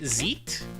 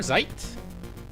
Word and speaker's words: Zeit: Zet or is it Zit? I think it's more like Zit. The first one was closer. Zeit. Okay, I gotcha. Z sharper. Zait, you actually have the hard Z.